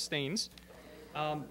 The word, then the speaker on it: Staines: It looks like it's spelled Steens, but it's Staines.